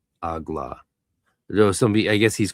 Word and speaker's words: AGLA: It is Ehye and Agla traditionally in the GD. Ehye, Agla. Though somebody, I guess he's criticizing him for doing Agala.